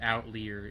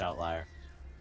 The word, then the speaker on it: outlier: like just this weird outlyer in their in their catalogue it's pronounced outlier is it yes because it lies outside of the normal set of data hmm I took a